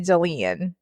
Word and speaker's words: Delene: Oh, no, it's Delene, like Celine, but with a D.